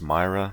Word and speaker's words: Myre: I do believe it's pronounced Myra.